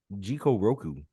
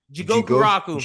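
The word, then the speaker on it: Jigokuraku: Gabby Maru from Hell's Paradise or Jiko Roku. I definitely. Is that how you pronounce it? Jigoku Raku.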